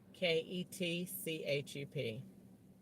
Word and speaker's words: Ketchup: K E T C H U P. K E D C H U P. Am I right? Just like the ketchup, the condiment.